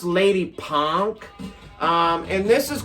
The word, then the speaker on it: Lady Pank: lady it says lady it looked like it would say lady pank it's pronounced lady punk um and this is